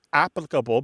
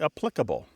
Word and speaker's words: applicable: And generally, in all of the English dialects, words that have previously been stressed on the first syllable are becoming stressed on the second syllable. Okay. So, it's not just integral becoming integral, it's also words like applicable becoming applicable. Formidable becoming formidable.